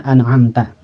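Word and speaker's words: أَنْعَمْتَ: Bunyinya gampangnya itu kalau izhar itu dibunyikan n ya. An'amta, an jadinya. Jangan ang ataupun anu. Atau ditekan bunyi n-nya. An'amta, tapi langsung dibaca saat itu juga tanpa dilamakan. An'amta begitu.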